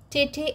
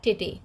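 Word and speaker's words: tête: What is the pronunciation of this word? tete or tete.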